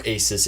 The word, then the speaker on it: Asus: I know, Or but an Asus. I know. Or Asus, if you want to pronounce it that way.